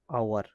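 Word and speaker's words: hour: তো আওয়ার age silent থাকে সবসময়, আওয়ার।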